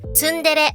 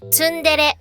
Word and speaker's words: tsundere: The expression is tsundere. It is read tsundere. Try to keep the sound short and even.